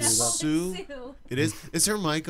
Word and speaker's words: Soo: Please welcome to the show Adam Jones-Kelly and Sue Jones-Kelly. Welcome. Come on over here. And just so everyone knows, Sue is spelled S-O-O, and that's S-U-E.